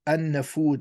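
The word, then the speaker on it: An-Nafud: in capital letters the Anna food or Al and the food the L is actually not pronounced that is a vast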